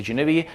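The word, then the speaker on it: Geneve: so I spoke about genief genev I think the correct pronouncing is Genevieve it stands for generic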